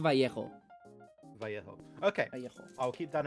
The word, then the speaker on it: Vallejo: The double L is pronounced differently depending on where you're from. We pronounce it like a sh, so I say Vallejo. But most Spanish speakers will say Vallejo.